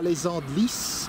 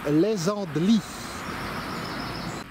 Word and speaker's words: Les Andelys: sont pas du point le s ne se prononcent pas ce n'est pas les andelys c'est les andelys la région fourmis de